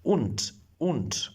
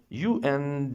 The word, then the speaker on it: und: Un. Okay. U N D pronounce D like T un not it is not and it is un in German language.